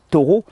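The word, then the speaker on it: Thoreau: la vie dans les bois de Henry David taureau ça s'écrit th h o r e a u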